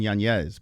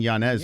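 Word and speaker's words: Yáñez: He said, yeah, it's Adrian Yanez. But he just doesn't, everyone's been saying Yanez for so long. Yeah. Okay. Then you should tell him he needs to correct. He needs to put that little squiggly thing on top of the end.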